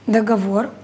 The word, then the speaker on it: договор: ноги исчерпать ударение на договор ударение на последнюю у статуи ударение на